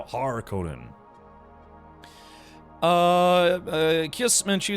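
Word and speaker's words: Harkonnen: Yeah, there's Harkinin and then Har Conan, right? It's a not Conan, just it's not regular Conan, it's now Har Conan.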